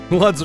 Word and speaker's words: Lutz: Lutz does rhyme with butts. And klutz.